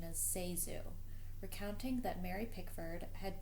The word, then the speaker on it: ZaSu: and news articles although the name is commonly mispronounced Zazu or zesu in her 1963 book candy hits published the year of her death the actress gave the correct pronunciation is seu recounting that Mary pford had predicted many will